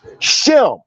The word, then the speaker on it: Shem: the greek word sim because there was no sh sound in the greek which should be properly pronounced as shem the shemetic language this